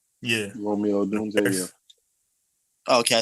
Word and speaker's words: Odunze: dark horse pick, correct me if I'm wrong, Odunze? Yeah. Romeo Odunze, yeah.